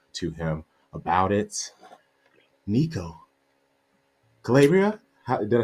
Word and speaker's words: Calabria: Nico, Calabria, did I say it right?